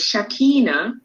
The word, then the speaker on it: Shakina: So let me help you with the pronunciation, which is very easy. It is Shakina.